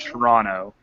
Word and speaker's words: Toronto: Toronto Toronto okay or if you live in Toronto it's pronounced Toronto throw at the [